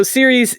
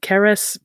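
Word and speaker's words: Ceres: agriculture she is so Series in classical Latin it would have been pronounced more like cares but today people say series it's like a Cicero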